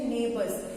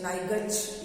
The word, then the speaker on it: neighbours: इसका प्रोनाउंसिएशन है नेबर्स, NEIGH, नाइजच नहीं हो पढ़ना है इसको, NEIGH, नाइगच या नाइच नहीं पढ़ना, इट is called नेबर, NEIGH इज ने, NEIGH को प्रोनाउंस करेंगे ने, ठीक है, ने, नाइग नहीं पढ़ना है, NEIGH, नाइग नो, इंग्लिश है थोड़ा सा डिफरेंट है, NEIGH नाइग नहीं है, ने है, और बर, नेबर, इसको पढ़ते हैं नेबर,